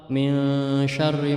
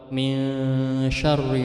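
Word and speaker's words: من شر: Jadi harus bacanya samar-samar seperti dalam surah Al-Falaq, min syarri ma khalaq, min syarri ma khalaq. Kebanyakan min syarri ma khalaq, padahal non mati itu dibaca samar-samar.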